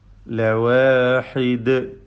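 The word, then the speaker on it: لَوَاحِدٌ: ലവാഹിദ്, തർഖീഖിന്റെ അക്ഷരമാണ്. ലവാഹിദ്, ദാലിൽ ഖൽഖല കുബ്ര നൽകി വഖഫ് ചെയ്യേണ്ടതാണ്. ശബ്ദം ചലിപ്പിച്ച് ഹറക്കത്ത് പോലെ വ്യക്തമാക്കി നിർത്തുക.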